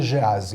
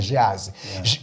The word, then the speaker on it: Geazi: vamos falar um Jazzy outros pronuncia Gerais o certo é Geazi que não tem acento não tem energia assim é Geazi quando o mensageiro Geazi